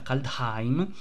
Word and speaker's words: Kaldheim: caldei ma che data si pronuncia calda time si ricorda ci ricorderanno